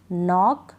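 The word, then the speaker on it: knock: देती हूं क्या है नीड नी नाइफ निट नॉक नो तो इन सारी स्पेलिंग में हम कहां पढ़ रहे हैं नीड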